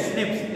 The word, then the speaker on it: SNPs: Pronounce as स्निप्स, इसको हम pronounce कैसे करते हैं, स्निप्स शॉर्ट में बोलते हैं, single nucleotide polymer occurs in the human.